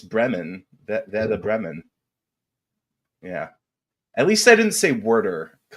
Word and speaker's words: Bremen: Veda Brahman. Oh, isn't Bremen? It's Bremen.